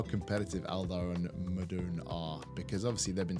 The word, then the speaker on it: Modon: Well, you say Modon, I say Modon, and then I get corrected. Oh, you get corrected. It should be Madun.